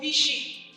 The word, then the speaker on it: phishing: The phishing is spelled phishing, phishing. So it's not when you throw a hook, but it's pronounced the same way.